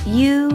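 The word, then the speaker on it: ㅠ: down horizontal stroke down the next vowel is pronounced you as in hey you and here you want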